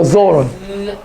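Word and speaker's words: ⲇⲱⲣⲟⲛ: So Zoron. Zoron. But that's Zoron. more like a Z. Yeah, Zoron, like this. It's TH as in this, so Zoron.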